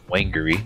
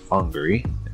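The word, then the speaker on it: Whangārei: wrong on Tuesday uh whangarei Airport looks like wangery but it is pronounced Hungary and I'm going through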